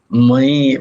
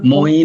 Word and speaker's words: ময়ি: ময়ি, ময়ি, দেখো মই নয়, ময়ি, ময়ি সর্বমিদম প্রোতম, ময়ি সর্বমিদম প্রোতম।